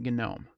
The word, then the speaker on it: GNOME: Okay, so that's why we pronounce it GNOME. Now, if you do pronounce it with a silent G, that's fine.